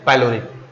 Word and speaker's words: pyloric: यानी इस पार्ट पर आप लोग थोड़ा ध्यान दीजिएगा, पैलोरिक, थोड़ा सा इस पर ध्यान दें कि ये जो पैलोरिक है इसका स्पेलिंग है PYLORIC, पैलोरिक।